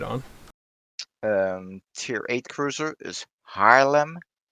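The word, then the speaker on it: Haarlem: tier viii cruiser is harlem oh those a's together make a weird sound don't they um yeah i guess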